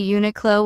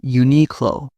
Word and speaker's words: Uniqlo: Some pronounce Sephora with stress on the fora. It's safer ah. I notice people say Uniqlo with stress on the ni. Japanese say Uniqlo.